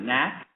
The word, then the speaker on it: NAC: you the next is I think it's pronounced Matt it's not NAC but knack is that correct knack International na anything okay